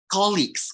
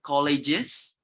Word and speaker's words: colleagues: Colleagues, yes. It's supposed to be colleagues, bukan colleges. Kalau colleges adalah university. It's colleagues.